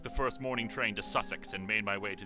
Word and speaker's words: Sussex: situation pronounced - sex - sex yes it's pronounced much sex all - sex it debate to say Sussex but Sussex is the correct way of saying I'm just